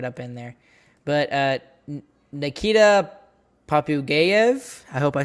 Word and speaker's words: Popugayev: But Nikita Popugayev, I hope I say that right. He's a Russian. Popugayev.